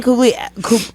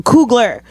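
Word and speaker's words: Coogler: blade amazing yes Ryan couly I'm saying his name wrong so cougler is doing doing an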